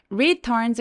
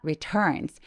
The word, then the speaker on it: returns: 요게 발음이 참 어려운데요 강세가 이렇게 return 럼 두 번째 음절에 에 있을 때에는 어 첫 번째 음절에 힘을 조금 빼고 returns 아니라 returns returns 힘을 빼고 시작해 주시는게 되게 중요합니다 when he returns home